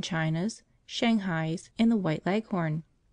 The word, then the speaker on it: Leghorn: shanghai's and the white leghorn phoebe when she pronounces this word leaves out the h embarrassing heavily on the last syllable so that it rhymes with begone as i was sitting